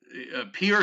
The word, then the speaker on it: Pierre: Yeah, no, Pierre, South Dakota. Pierre, right? It's And not pronounced Pierre, it's pronounced it's Pier.